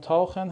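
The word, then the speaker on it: tauchen: تاخن ببینید اینجا ما قبلش حرف صدادار آ و او رو داریم حرف صدادار آ و او و اینجا باز س های ما صدای خ میده دوستان اینا همش نیاز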